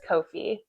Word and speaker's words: Ko-fi: Yes, that's how it's pronounced. It is Kofi.